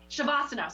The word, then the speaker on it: Shavasana: Savannah, what? No. You know when you do the meditative part of the yoga after? What's the last part of the yoga? Shavasana? Shavasana, sorry, I knew I was saying that wrong.